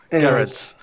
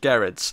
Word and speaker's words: Gerads: Yeah, it's a hard G. Hard G.